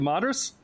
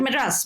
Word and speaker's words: Madras: and I don't know this university university of modus is that is that how you pronounce it oh oh yeah yeah yeah un of Madras madas yeah see I can't that's I did